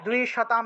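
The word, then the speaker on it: দ্বিষতাম্: তারপরে দেখুন 15 নম্বর, বিদেহি, विदेहि द्विशताम नाशम द्विशताम দয়ের নিচে বফলা তাহলে দুই উচ্চারণ হবে দ্বিশতাম নাশম অনুস্বার থাকলে ম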